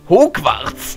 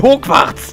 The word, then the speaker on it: Hogwarts: Gegenwärtiger Schulleiter von Hogwarts.